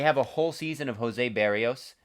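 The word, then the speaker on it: Berríos: a whole season of jose berrios i should say is the correct correct pronunciation they have kevin gossman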